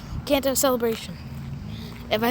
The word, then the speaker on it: Kanto: Uh, Kanto. Yeah, I said it right. Kanto Celebration.